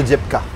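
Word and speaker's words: diếp cá: Il faut bien dire dip dip k parce que si tu dis k descendant K et ben ça veut dire tomate.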